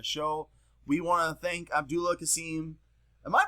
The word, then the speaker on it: Abdullah: the uh the show we want to thank Abdullah casim am I pronouncing your name right absolutely not am I even close to it abdala actually you're pretty damn close damn right but